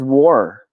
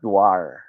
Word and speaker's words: war: man the c.o.d guy agrees all right it's pronounced as war not dwar hindi war huh remember that now let's try